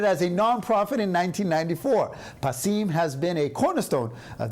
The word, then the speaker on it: Passim: both performers and audiences yes we're talking about passim I had pronounced it incorrectly in the beginning but now